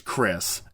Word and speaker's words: Khriss: Okay, his name is Chris. It is spelled Khriss, and Nas.